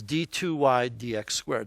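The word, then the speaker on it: d²y/dx²: really wrong that's pronounced d2y dx squared so we pronounce the two on the bottom as if it were an exponent and we pronounce the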